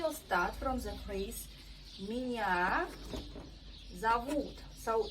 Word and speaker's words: меня зовут: So it's important, pay attention on stress. Меня зовут. Also very good rule, pronunciation rule. We pronounce O without stress like A in every word you see. That's why we say меня зовут.